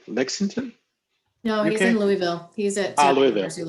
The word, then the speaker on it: Louisville: The name of- Amanda, you do know that's a single syllable, don't you? Louisville. Yeah, I can't. I need to work on it. You gotta fill your mouth with mashed potatoes. Is how I was told.